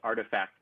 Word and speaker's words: RTFKT: adidas nike has purchased rtfkt pronounced artifact studios they have purchased